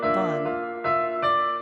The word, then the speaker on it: Vaughn: 6 letters yet only 1 syllable.